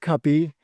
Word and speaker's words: Cupy: So it's pronounced cupy as in cup of coffee.